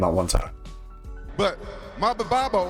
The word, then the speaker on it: Maldonado: who's pretty much just known because Rampage couldn't pronounce his name at one time. But Maldonado, how you say his name? Fabio Maldonado.